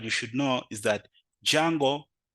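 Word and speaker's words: Django: should know is that jungle the D is silent jungle makes it easier to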